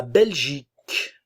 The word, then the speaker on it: Belgique: pas autrichienne autrichien autrichienne la Belgique le E ne se prononce pas nationalité belge belge